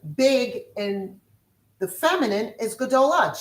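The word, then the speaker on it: גדולה: And for big in the feminine is gdola.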